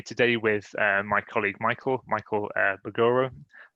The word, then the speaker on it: Mbogoro: And I'm here today with my colleague Michael Mbogoro. I think the M is silent. I think it is, yeah. It is.